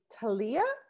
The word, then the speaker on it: Talia: detail and then we are moving on to talia that's how you say it talia talia okay